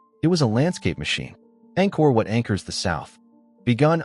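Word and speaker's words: Angkor: Anchor, pronounced angore.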